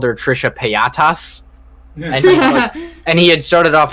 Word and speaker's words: Paytas: we have figured out it's pronounced Paytas and he's like Paytas